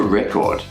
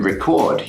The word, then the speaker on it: record: as you do it in the noun form you stress the first part of the word where it's in the verb form you stress the second part of the verb we can't permit you